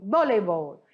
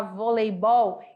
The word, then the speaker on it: voleibol: nas olimpíadas boleibol ou voleibol então tem duas maneiras a gente falar voleibol em espanhol voleibol ou voleibol então eu posso fazer a minha sílaba tônica mudar de lugar voleibol ou voleibol duas equipes de seis integrantes